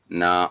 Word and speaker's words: na: Chai na mkate.